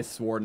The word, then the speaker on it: sword: You say sword, not sword. I guess that makes sense, because W. So many like weird like rules with silent letters.